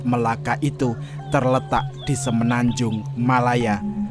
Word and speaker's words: Melaka: Malaka dan Hangtuah Kesultanan Malaka atau yang dalam pelafalan orang Malaysia disebut Melaka itu terletak di semenanjung